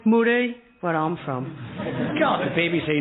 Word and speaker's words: Murray: y but pronounced the thing well Murray it's pronounced muray where I'm from God BBC never used to